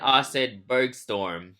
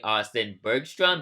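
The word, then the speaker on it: Austin-Bergstrom: like the Austin inaugural Sacramento flights I said Austin Berg storm unfortunately that's the incorrect pronunciation of that airport it's actually Austin Bergstrom because there's an R because like I mean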